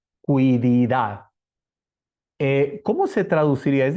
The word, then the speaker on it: quididad: einai es la quididad así se escribe q u i cui di de Dad quididad eh Cómo se traduciría